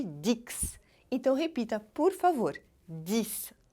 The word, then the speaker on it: dix: significa 10 atenção porque esse x aí deve ser pronunciado com som de s olha pensa em vez de Dix Então repita por favor